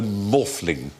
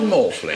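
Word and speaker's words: Maughfling: of glastenbury and Stonehenge whose name is rol morling R morling it's spelled m a u g h f l i n g sounds like a practice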